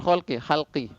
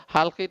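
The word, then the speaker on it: حلق: Jangan ganti dengan kho ya, ini kesalahan ini. Banyak sekali menyebutnya aqsal khalqi. Ya, pangkal penciptaan jadinya. Ya. Insyaallah ya. Halqi itu tenggorokan. Jadi di ini ya. Halqun itu tenggorokan. Kalau al-khalqu itu pencipta, pakai kho.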